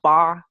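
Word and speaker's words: 八: So it's this when 8 in pronounced in Chinese is fa, is ba, and then it's kind of similar word to this word we call fa.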